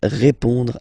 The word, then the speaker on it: répond: So, final D is not pronounced. You will only have this on nasal sound at the end.